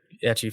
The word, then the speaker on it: ecchi: Well, I assume if they are big ecchi fans, they've already seen it. Oh, yeah, you're right. Is that how you say it, ecchi? That's how I say it. Oh, I've always said ichi, but like, I don't know.